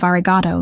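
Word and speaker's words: ありがとう: He also said to tell you that your pronunciation of argato needs work. The O at the end should be longer, more sustained.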